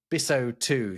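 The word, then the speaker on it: bissotwo: Two becomes biso 2.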